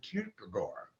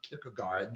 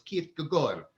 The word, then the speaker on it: Kierkegaard: whose name was zorin kierkegaard right that's how you pronounce the names not pick a guard that this the d is silent in danish so it's keith gagor that's how you pronounce